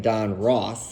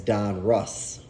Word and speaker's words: Donruss: I guess I'm mispronouncing it by saying Don Ross, Ross, but that's how I've always said it. I guess the appropriate way is Don Russ, but that just sounds foreign to me.